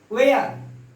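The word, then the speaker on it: where: जैसे वाट, एच का ये साइलेंट हो जाता है, वाट। वेन वेरी इंपॉर्टेंट है। वेयर, वाई।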